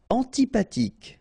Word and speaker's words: Antipathique: Antipathique. So remember, this H doesn't exist phonetically, so antipathique.